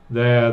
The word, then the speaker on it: they're: Misma pronunciación, escrito en otra manera porque el inglés no es fonético.